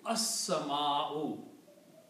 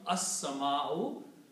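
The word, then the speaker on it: السماء: And also Seen takes the sound of lam, so it will be as-sama'u. The word will become as-sama'u, means the sky. Okay? So this word will become as-sama'u, the sky.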